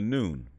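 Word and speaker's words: Nun: In Memphite theology, they call this the noon, which is spelled N-U-N.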